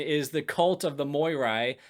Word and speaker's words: Moirai: Anyways, Minos' new religion is the cult of the Moirai. If you want to be pedantic, that is actually pronounced the Mirae, the Fates.